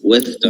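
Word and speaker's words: West Ham: এই যত হ্যাম দেখবো আমরা, এটার উচ্চারণ হচ্ছে আম উচ্চারণ করবে। এটার উচ্চারণ অ্যাকচুয়ালি ওরা করবে নিউ নিউ নিয়াম নিয়াম। তাহলে বলেন তো দেখি এটার উচ্চারণ কি, কিংবা এটার উচ্চারণ কি? ইস্টওয়াম ইস্টাম ওয়েস্টাম, ওয়েস্টওয়াম ইস্টাম ওয়েস্টাম, ওয়েস্টার্ন ফুটবল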